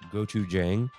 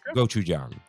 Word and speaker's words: gochujang: Michelle writes in, "Hey guys, just want to correct the pronunciation of gochujang. It's pronounced with a soft A, not a hard A.